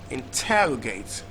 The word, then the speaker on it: interrogate: we had the word interrogate stress on the second syllable so Cadiz and tell